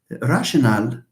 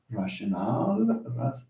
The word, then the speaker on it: rationale: It's called rationale. Rationale with E at the end, and it's not pronounced rational, please. Rationale.